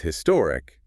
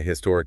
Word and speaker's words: historic: vowel sound but with historic sometimes people say a historic event and sometimes they say an historic event that's because the pronunciation of the age can vary depending on the speaker's accent they might pronounce it